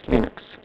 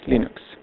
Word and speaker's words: Linux: because in store was unlike commands UNIX or Linux this is installed and I pronounced in exhaust Linux hello this is installed